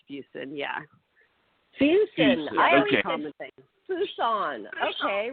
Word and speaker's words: Fuson: it fusen yeah every everyone pronounces it wrong it's fuson yeah Fus I Fon okay we're sorry mid February 199 okay so we're not gonna say we're not gonna say fous on anymore right yes